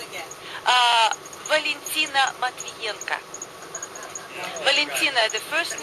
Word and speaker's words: Valentina Matvienko: Will you pronounce her name again? Valentina Matvienko.